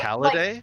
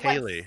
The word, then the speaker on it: Ceilidh: And I was Oh, like, Caliday? And they were like, like Kaylee.